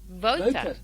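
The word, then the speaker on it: Wouter: Say voter. Voter. Yeah. Okay, voter, but roll your R at the end.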